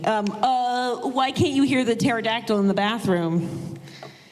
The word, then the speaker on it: pterodactyl: Why can't you hear the pterodactyl in the bathroom? Because the P is silent.